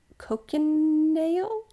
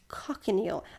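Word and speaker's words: cochineal: don't know how to say this word Co cocon nail Co cinal cockanal oh I'm going to spell it it's c o c h i n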